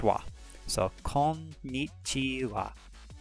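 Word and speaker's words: は: it uses the ha he Tigana but it's pronounced wah so calm meet tu off calling me chew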